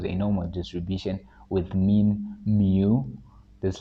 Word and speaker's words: mu: notation X follows a normal distribution with mean mu this letter is a Greek letter is pronounced mu all right and variance Sigma squar